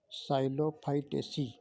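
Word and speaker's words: Psilophytaceae: गया साइलो fight स पी एस आई एल ओ P silent रता है पी एस आई एल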